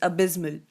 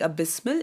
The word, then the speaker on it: abysmal: The next one is abysmal. Notice the pronunciation here. I'm not saying abysmal, it's abysmal.